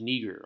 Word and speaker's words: Niger: And it's pronounced nigger, all right?